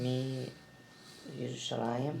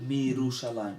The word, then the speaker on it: מירושלים: Mi Yerushalayim. Mirushalayim. Right. When you add the mem, you don't pronounce you. Just say Mirushalayim.